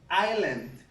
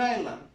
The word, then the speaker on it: island: this one is an island you don't pronounce the S so again this one is an island we're here what we